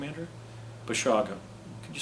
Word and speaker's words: Basiago: Basiago. Could you spell that? That sounds kind of unusual. I said, B-A-S-I-A-G-O. He said, well, that sounds like Basiago. You pronounce it, what is it?